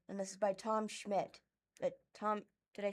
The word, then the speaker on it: Schmidt: Heat returning soon, and this is by Tom Schmidt.